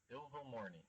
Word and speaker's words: Ilvermorny: No, you said evil. You said it like with a V before the L. Evil. No. Okay, I'm sorry. Ilvermorny.